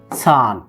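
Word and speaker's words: さん: খেয়াল রাখবেন, সান, সা এন, সান। ইচি নি সান।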